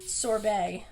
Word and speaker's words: sorbet: Sorbet. That's raspberry sorbet. Well, it has a T. Yes, The T is silent. the B-E-T is bay. Yeah.